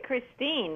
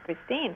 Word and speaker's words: Kristin: you know there's actually Christine you were right about it all the time it's just the spelling is Norwegian so it's missing an e at the end okay to pronounce Christine so you were right